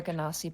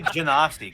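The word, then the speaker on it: Genasi: I say Genasti because they're kind of like genies.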